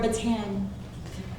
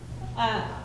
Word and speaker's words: Bataan: - Bataan, or Ba-tan. (laughing) Which everyone believes. - How would you pronounce it? - Bataan.